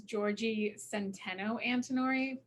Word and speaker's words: Giorgi Antinori: Well, actually, my full name is Giorgi Antinori.